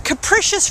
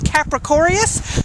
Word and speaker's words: capricious: kid first of all not knowing how to pronounce the word capricious I used to pronounce it in my head is capricorius but also thinking even